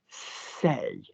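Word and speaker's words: ces: Say, say, C-E-S. No problem, we can remember say because we know may and te and say, S-E-S, same pronunciation.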